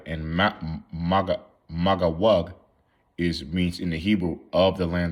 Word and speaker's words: Magog: Okay, how you say Magawug. Magawug. That's how you say it.